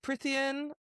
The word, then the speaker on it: Prythian: We are now going to delve into the world of Prythian all over again. Prythian? And am I right? Am I still getting that wrong? Is it who not knows? Prythian? It's Prythian.